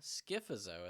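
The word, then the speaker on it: Scyphozoa: This is going to include for the four hydrozoa, skifzoa is how you say that cubizoa and anthsoa.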